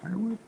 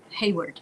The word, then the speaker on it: Hayward: Is it Harwood? Hayward. It's Hayward.